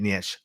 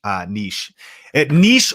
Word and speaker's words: niche: That's a really great niche. Niche or niche. How do you say it, right? It's actually niche if you're in Europe, and that's the way to say it. But in America, we'd say niche, right?